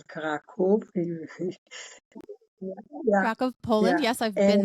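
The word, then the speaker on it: Kraków: was born in kov we say it like Polish people karakov kov Poland yes I've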